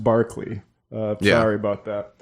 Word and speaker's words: Berkeley: It's a long, like I said, I didn't know until later that Berkeley is pronounced Barkley.